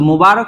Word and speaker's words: মুবারক: সো মুবারক শব্দটা আপনার যেভাবে আছে ঠিক সেভাবে আপনাকে উচ্চারণ করতে হবে।